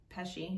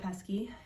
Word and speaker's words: Pesci: All right, supporting actor, Tom Hanks, Anthony Hopkins, Al Pacino, Joe Pesci, I almost said Pesky, and Brad Pitt.